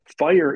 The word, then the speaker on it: FHIR: que se llama fire fire se pronuncia así fire como fuego en inglés fh i r por